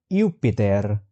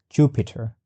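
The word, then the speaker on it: Iuppiter: So Jupiter was pronunciated as Yupitar. Yupitar rather than being pronunciated at Jupiter.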